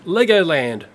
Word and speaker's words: Legoland: take a look at I say it like this leg ox land but apparently with European flaying it sounds like this legoland it's presented by a